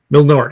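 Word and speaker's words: Mjölnir: the um uh majority I can never freaking pronounce it Thor's hammer oh manure yep Milnor yes thank you uh yeah so they it's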